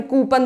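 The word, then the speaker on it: coupon: ये कूपन नहीं होता है, ये होता है कूपन, इट्स कूपन। इसका करेक्ट प्रोनाउंसिएशन है कूपन, ठीक है, नॉट कूपन।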